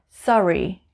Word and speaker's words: Surrey: working working number four sorry sorry in the south of england it's called surrey sorry sorry number five it's